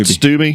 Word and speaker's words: Stubbe: What kind of sparked this up was I was just thinking we're going to have how you pronounce? Is it Todd Stubbe? Yeah. Todd Stubbe. Stubbe.